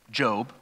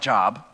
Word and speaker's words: Job: of all the the main character's name is job looks like job it's pronounced job I'm sure there's many people who